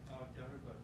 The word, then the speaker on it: terrible: Terrible. Beautiful. There you go. There you go. Here, terrible. So words that end with le, try not to make it terrible or whatever. It's terrible.